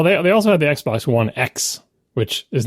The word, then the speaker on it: Xbox One X: they also had the Xbox One X which is not s that's right but it sounds like it x x was like the and it's not pronounced 10 yeah X was the